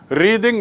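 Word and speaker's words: wreathe: एंड टू रिद माने उच्चारण देख लीजिए, टू रिद जब वो क्रिया होती है तो रिद, रिद माने गूंथना, और रेथ माने फ्लावर का गुच्छा, जो गोलाकार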